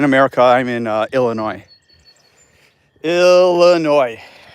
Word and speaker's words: Illinois: I'm in uh Illinois Illinois and there's no S A lot of people pronounce It in America Illinois it's Illinois so um best place